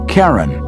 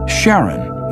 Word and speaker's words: Charon: christie suggested the name karen after the ferryman of Pluto's underworld in greek mythology but preferred to pronounce it sharon more like his wife's name charlene from the motions of pluto and charon astronomers could work out